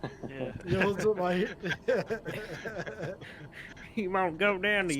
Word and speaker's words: Yosemite: Yeah, because we have Vegemite, so to me it was Yosemite. Yeah. Yosemite.